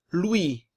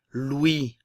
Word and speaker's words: Louis: Louis. Le S ne se prononce pas. Encore une fois, nous avions vu que le O et le U en français se prononcent OU. Ok? Louis.